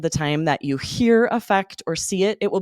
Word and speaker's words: affect: an A, spelled the same, this meaning, and it is pronounced differently, affect.